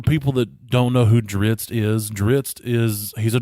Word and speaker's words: Drizzt: course it is yeah and Ritz I've always pronounced it as drizzit and I may not be the only one